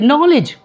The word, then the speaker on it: knowledge: मिसाल के तौर पर दे डू नॉट प्रोनाउंस के के एन आई एफ ई दे से इट नाइफ के नहीं साउंड हो दे से नॉलेज के साउंड ही नहीं होता ट समझते हैं बात